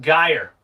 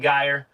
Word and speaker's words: Greer: thank you is it it is pronounced guyer all right guyer but everybody messes it